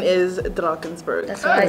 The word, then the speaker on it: Drakensberg: see canada drakensberg no i think it really is just like drunken okay so the correct pronunciation is drakensberg that's what i said